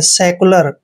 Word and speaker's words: secular: Next है SECULAR। दोस्तों, एस का उच्चारण श करते हैं, ई को ए की मात्रा पढ़ते हैं और सी का उच्चारण हमने आधा कै करना है और यू को यहाँ पर यू पढ़ना है। LA का उच्चारण ले करेंगे, आर को रे पढ़ना है।